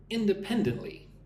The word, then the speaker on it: independently: Independently. Five syllables. Independently. Independently. But the emphasis on the third syllable. Pen.